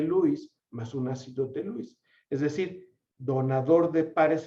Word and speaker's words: Lewis: mencionemos lewis pero como ya sabemos que lewis se pronuncia louis le vamos a decir